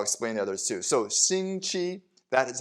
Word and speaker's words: 星期: most but i'll explain the others too so shinchi that is how do you say week so